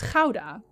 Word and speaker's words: Gouda: If I am having a long conversation in English So Gouda, the cheese, is Gouda. Just, that's how you say it, Gouda. But a lot of English people cannot say the G.